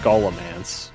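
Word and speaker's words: Scholomance: I have no clue what that is, but yeah, it is kind of I think that would be pronounced scholamance, like scholar.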